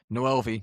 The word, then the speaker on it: Noelvi: I'm really struggling with if Noelvi, not Novelli, I've been called out.